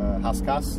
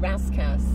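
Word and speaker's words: Rascasse: Haskas. Haskas. Yeah. Oh dear. So when us Brits will call it Raskas. Well, you know. It's not the true way of saying it.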